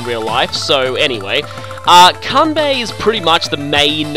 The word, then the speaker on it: Kanbei: using here convey the I always used to call him Kane V but I don't really back then I had wasn't even studying Japanese so I didn't know how to pronounce this I obviously yellow comedy